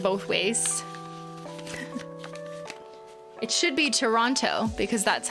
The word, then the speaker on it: Toronto: but no, I usually say Toronto because I tend to pronounce T's like button and kitten.